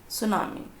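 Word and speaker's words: tsunami: सुनामी, इसमें T silent है बच्चों, टी चुप है। इसको पढ़ते कैसे? प्रोनाउंसिएशन होता है सुनामी। टी को लिखेंगे लेकिन टी का प्रोनाउंसिएशन नहीं होगा।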